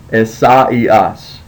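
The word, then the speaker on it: Ἠσαΐας: So you have to break it up. So the way you say this is not asaios, it's asaios. Esaias.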